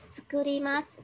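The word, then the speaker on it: つくります: Mình nhớ là khi mà có chữ là tsukurimasu, chữ đầu tiên á, mình sẽ vô thanh nhờ. Mình đọc là tsukurimasu, mình đọc là tsukurimasu, mình không đánh vần, được không?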